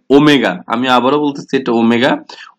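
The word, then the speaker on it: omega: এটা প্রথমবারের মতো আমি লিখে দিলাম, কারণ হচ্ছে আমি সবসময় এটা উচ্চারণ করার সময় ওমেগা বলবো, কেউ কিন্তু ডব্লিউ উচ্চারণ করবে না, এটা ওমেগা।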